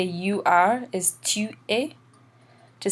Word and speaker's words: est: Remember, il is for he, and elle is for she, and that's pronounced a, even though it's spelled est.